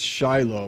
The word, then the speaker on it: Shiloh: many other versions it's Shiloh or in Hebrew pronounced Shilo what we say as Shiloh today the the Hebrew word